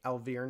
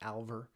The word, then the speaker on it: Alvear: I realized I butchered the name last session, so yeah, so his name is Danny Alvear, not Alver.